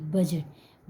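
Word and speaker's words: budget: डी जी ई टी बजट बजट में भी D silent है बजट मीस बजट फोर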